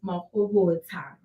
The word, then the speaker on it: Mahobotsha: yeah, so my surname currently is pronounced Mahobotsha. So it has like a child at the end instead of Shah.